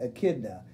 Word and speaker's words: echidna: It looks like echidna, but actually the CH is the K sound, so you pronounce that echidna.